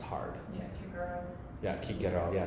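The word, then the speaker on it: Cicero: A and an A, it would have been pronounced hard. Yeah, Kigaro. Yeah, kikero.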